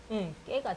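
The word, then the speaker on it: ཀེ: 그 다음에 에 발음도 마찬가지로 까가 있으면은 까에다가 에가 붙어가지고 깨가 됐습니다. 까에다가 에가 붙으니까 깨.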